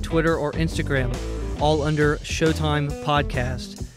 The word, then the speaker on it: Sheauxtime: or instagram all under showtime podcasts that of course is spelt the Cajun Way sh e a ux time podcast also if you'd